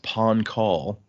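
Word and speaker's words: Pahn Kahl: war breaker it's uh I believe it's pronounced Pon call and it is a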